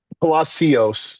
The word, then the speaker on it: Palacios: Did I pronounce that right? Palacios, like Palacios.